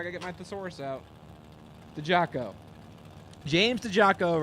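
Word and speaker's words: Diciacco: yeah this name is spelled d-i-c-i-a-c-c-o but it's pronounced the Jocko yeah help I need that that doesn't make any sense nope but Been Told so James dejaco right hand side and Trail Synchro left hand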